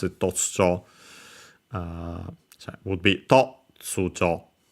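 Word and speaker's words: 突如: Totsujo is an adverb, Chinese compound, so I think still okay, no, this is one of those actually accent on the first more. Actually, I think I actually pronounce it Totsujo.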